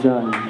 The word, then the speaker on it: Jun: For this next one, we'd like to invite up someone special whose last name rhymes with fun. It's Jun.